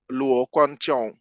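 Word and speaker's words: Luo Guanzhong: name is g-u-a-n-z-h-o-n-g and the g once again is pronounced like a k impinging inside the pinging system not many things are known about luo konchong but i think that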